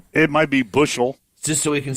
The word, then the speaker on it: Buechel: Bushel. According to our phonetic speller. Shane Bushel. And not Buechel.